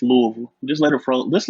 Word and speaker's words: Louisville: ain't got to put too much emphasis on the Louis. It's just Louisville.